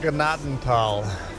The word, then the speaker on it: Gnadental: It's not how it's spelled, but close enough. Gnadental. It is pronounced Gnadental. Graceland. In Deutsch.